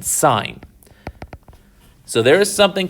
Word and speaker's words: sine: about is called sine it's spelled s-i-n-e that's the full word but we pretty much always abbreviate or abbreviate it but shorten it to s-i-n sign so there is something